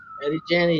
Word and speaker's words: Eddie Janney: Within about 6 months, Alec went from Punk Rock Observer to being recruited by Eddie Janney. Is that how you pronounce it? Eddie Janney, yep.